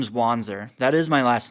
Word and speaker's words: Wanzer: When you change it to a Z, people instantly know how to say it because they think, oh, this is German. So it's Wanzer. Right. And they don't mess up the Z in the end. The Z stays put because it's like finite.